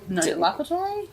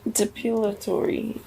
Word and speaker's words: depilatory: Is that how you say it? Depilatory? Dilapatory? Depilatory. You know. Dilapatory. It's delap. Depilatory. Depilatory. Yeah, you're right.